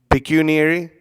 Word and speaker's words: pecuniary: Pecuniary?